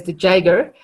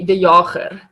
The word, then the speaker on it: de Jager: We pronounce the surname as de Jager, I think, for the Americans. In our language, it would be de Jager, funny enough.